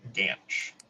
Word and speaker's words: GANCH: Together, we're going to be presenting on a project we've been working on for the past couple of years called GANCH, rhymes with ranch.